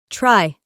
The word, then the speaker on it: try: Primero la Y la pronunciamos I, try.